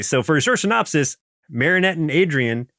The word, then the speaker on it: Marinette: Ev, okay, so for a short synopsis, Marinette and Adrien, I keep want to say Marionette because of the way it's spelled.